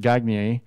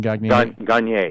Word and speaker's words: Gagne: talking about Christine and gagney a and I hope I said intern named Christine gagney Gagne Gagne you don't don't look at it just say it you looked at it you mispronounced it yeah very sharp any